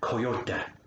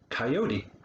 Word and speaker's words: coyote: language but it's called coyote again no second t sound on that um if you get